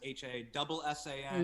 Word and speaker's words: Hasan: They go sometimes Hasan. Yep. But the part, in Southeast Asia where my family's from, it's pronounced Hasan.